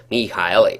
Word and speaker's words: Michael: had guy Hanson and Michael Kiske or mihail if you want to use the correct pronunciation rejoin they're all banned